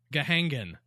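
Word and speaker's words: Gahagan: it's spelled G-A-H-A-G-A-N. Gahangan.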